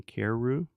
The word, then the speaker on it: Carreyrou: I believe his name is John Carreyrou. Carrer. It looks like Carrera, but it's Carreyrou.